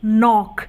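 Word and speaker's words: knock: है उसी तरीके से नोक अब नोक में भी ऐसे पहले क्या ए रहा है के ए रहा है और के यहां पर क्या है साइलेंट है तो इसलिए हम इसे नोक बोलते हैं अब देख लेते हैं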